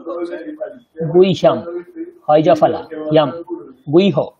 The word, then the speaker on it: गुह्य: গুইহ্যম, হয়জফলা ইয়াম, গুইহ। আমরা বাংলায় বলি গুজ্জ, সংস্কৃতে গুইহ্য।